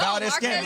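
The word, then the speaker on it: Valdes-Scantling: Yeah, no, Valdez Scantling.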